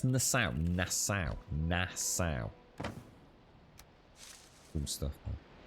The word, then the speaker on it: Nassau: Oh, in Nassau. Oh, that was it. Sorry, Nazar, Nassau. Nassau. Is it? Yeah, Nassau.